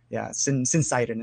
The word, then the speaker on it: syncytin: I've heard it pronounced a bunch of different ways, but syncytin is how I like to pronounce it.